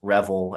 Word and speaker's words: Revel: His name is difficult to pronounce. It looks like it should be Siobhan Revel. It is Revel, as we've been told.